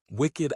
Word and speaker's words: wicked: them a very small group pronounce the D syllable even if the base ends in a K or other unvoiced sound. Wicked adjective wicked, but the flame wicked away the oil is wicked.